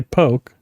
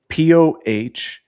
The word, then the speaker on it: poke: Yeah, so I'm gonna say poke Okay.